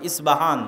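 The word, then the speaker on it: أصبهان: নামে সেই নগরী আছে আমরা প উচ্চারণ করি আরবিতে এটা উচ্চারণ হয় না আরবিতে হয় আল আসবাহানি বা উচ্চারণ হয় ইসবাহান বাসবাহানি সেখান থেকে 70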